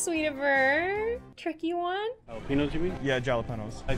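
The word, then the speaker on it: jalapeño: Jalapenos, you mean? Yeah, jalapenos. I think the proper way to pronounce it is jalapeno.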